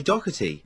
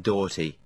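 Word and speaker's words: Doherty: i was taking i used to say dougherty well the other way the other week we had a text message in i think praising you for correctly pronouncing the name when other xfm djs mispronounced it well then last week you see i changed my policy because i'd seen cat dealie calling him daughty dirty dorothy filthy dorothy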